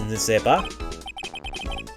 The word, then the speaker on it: n'est-ce pas: Maggie was a policewoman once, n'est-ce pas? Trying to remember how that's pronounced. N'est-ce pas? Because that entire EST is almost silent, except for the E sound.